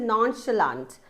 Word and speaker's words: nonchalant: How do you pronounce this word? This is nonchalant.